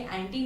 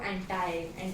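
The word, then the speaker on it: anti: एंड अगर हम foreign country में जाए तो ये एंटी नहीं बोलेंगे, इसको एंटाई बोलते बोलो। तो इट्स प्रोनाउंसिएशन इंडियन है, यू can pronounce एनीथिंग, so don't worry about it.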